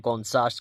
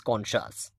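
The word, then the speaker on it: conscious: মানে বাংলা মানেটা খালি হুদায় এক ধারসে আপনারা উচ্চারণ করে যাচ্ছেন কনসাস কনসাস কনশাস come on guys গাজামুখী যে নৌবহরের অভিযাত্রা এটা একটি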